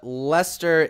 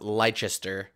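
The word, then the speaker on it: Leicester: yeah yeah it it it looks like it should be pronounced lychester but it's lester lester lester city uh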